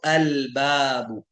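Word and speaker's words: البابُ: इसी तरीके से मून लेटर जो हैं, जो हरूफ कमरिया कहलाते हैं, तो वो जो हैं उनमें लाम नहीं, लाम पढ़ा जाता है। जैसे बा हरूफ कमरिया में है तो अल बाबू, हमजा हरूफ कमरिया में तो अल उम, अल अबू, अल अखु, अल उख्तु, सब इस तरह से करेंगे।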